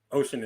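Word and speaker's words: Ossian: uh my name is ocean what is it again i'm sorry uh my name is ocean ocean is spelled o-s-s-i-a-n by gordon bennett my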